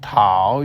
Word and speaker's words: tao: The pinyin tao is pronounced roughly like ow, with the like the start of tsunami, said quickly and smoothly as one syllable.